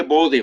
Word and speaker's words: Bode: Se escribe Bode, o sea, mucha gente le dice Bode, pero pues es Bode, ¿ok?